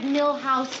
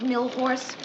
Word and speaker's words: Milhous: Wars in England you'd find a way to mispronounce London oh uh Ted Mr Grant asked me to remind you it's Richard Milhouse Nixon not horse hi yes hi what are you doing here